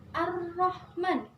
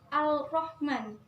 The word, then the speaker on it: Ar-Rahman: Jadi bacanya Ar-Rahman, bukan Al-Rahman.